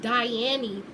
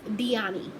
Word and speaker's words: Dyani: week is the yummy now I heard somebody trying to pronounce this as Diane e up girl now it's dyani periods how you do